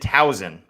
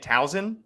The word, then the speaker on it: Towson: Got roasted because people were saying it's not a Z, it's an S. I've lived here for 8-9 years now, and I've been pronouncing it Towson.